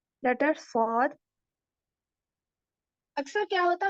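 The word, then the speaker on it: ص: Saud का क्या है, इसको प्रोनाउंस करते वक्त भी हमारे ऊपर के और नीचे के दोनों दांत टच होते लेकिन सॉद को हम लोग भारी पढ़ते हैं। Saud, Saud.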